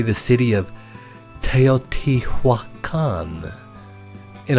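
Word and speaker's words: Teotihuacan: say the city of teoti Hua Khan and I say that slow so that you can actually learn it it consists of four syllables tail t Hua Khan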